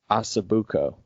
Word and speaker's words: osso buco: I can't what what how do you pronounce that the Italian one osso bucco osso buco yeah do that Oh bu